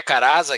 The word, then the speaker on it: Carazza: Às vezes se pronuncia de uma forma diferente. É Caraza aqui no Brasil que eu falo? Aportuguesado, 2 E's mesmo, Caraza.